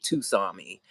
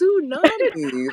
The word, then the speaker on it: tsunami: No, Oh, Tsunami was the one I did recently and was calling it Tusami. Um, fuck, I can't girl, remember. I was dying laughing when you said the name, and I was like, "Does she mean Yo, tsunami?" And and I I said it died. so many times. I was like, Tusami, Tusami, Tusami. And I was like, bitch, it's tsunami.